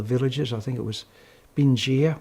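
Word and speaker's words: Bình Giã: And the tracks led from south to north from one of the villages, I think it was Binh Gia, we pronounced in the Aussie way.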